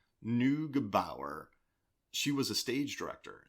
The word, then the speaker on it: Neugebauer: Neugebauer.